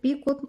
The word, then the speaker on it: بيكو: عمود بلفه وفوقيه غرزة بيكو أو بيكو مكونة من 3 سلسلة ومقفولة بغرزة منزلقة. كلمة بيكو أو بيكوت يعني في ناس بينطقوها بيكو، في ناس بينطقوها بيكوت، الاتنين صح، مفيش أي مشكلة فيها.